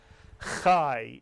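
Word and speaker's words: חי: Chai is correct. The patach yud is always pronounced I in Hebrew.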